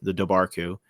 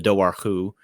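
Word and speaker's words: Dobhar-chú: subbed in for you, the Dobarku, or the Dowarku, as it's otherwise pronounced.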